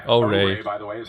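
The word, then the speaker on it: Oure: Auri? And that was a first look at O-Ray. O-Ray.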